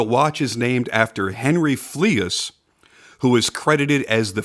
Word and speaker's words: Fleuss: it makes it hard to listen to me pronouncing it correctly but the watch is named after Henry fleas who was credited as the first ever scuba